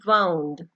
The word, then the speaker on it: wound: हम इसको बोलते हैं वाउंड. ठीक है. जब हम इसको एज ए वर्ब बोलते हैं तो we pronounce it एज वाउंड.